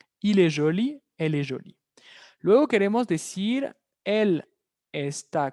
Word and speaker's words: jolie: Il est joli. Elle est jolie. ¿Qué observamos? Exactamente la misma pronunciación. ¿Okay? Al agregar una E al final, una E, esa E es muda, lo vimos.